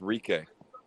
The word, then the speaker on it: Rique: He said that his name is pronounced Rique.